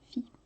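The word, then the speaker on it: Φ: Et il se prononce Phi. C'est Phi.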